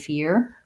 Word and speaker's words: fear: for the confusing answer yes there is a ya in here and fear between the e and the er but don't over pronounce it okay great thank you